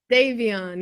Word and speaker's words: Davion: Devion or Devon? Davion, yeah, Foggy Raw and Davion.